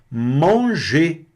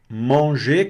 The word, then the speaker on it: manger: Manger. Manger quer dizer o verbo comer. Não pronunciei o E aqui. O E aqui está fechado, não pronunciei o R.